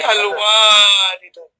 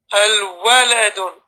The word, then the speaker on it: الولد: The waw, you have no alif after the waw. No need to say al-walidun. Al-waladun.